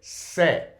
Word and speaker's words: sé: There is no pronunciation difference. So if I was to cut off that accent and just have se, it would still be pronounced as se.